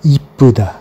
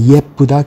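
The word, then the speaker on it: 예쁘다: Para este adjetivo de yepuda, se utiliza mucho coloquialmente la forma ipuda, se escucha mucho. Y está muy extendido su uso entre los coreanos normales, siempre dice ipuda, en lugar de yepuda, que es la palabra oficial, la pronunciación oficial. Eso sí, siempre que se escribe hay que escribirlo con el ye, yepunde, yepuda.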